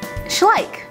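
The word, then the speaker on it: Schleich: briers now I know the sign behind it does not say briers it says schlik and I hope I pronounce that right because I just looked it up on YouTube schlik schlik I think she said schlik yeah she said schlik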